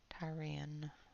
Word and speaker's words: Tyrian: Tyrian.